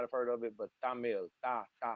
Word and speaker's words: Tamil: You may have heard of it, you may have not have heard of it, but Tamil, like you pronounce it with a th. Tamil.